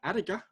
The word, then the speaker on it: Adiga: And his surname is Adiga? J: Yes, Adiga S: Adiga.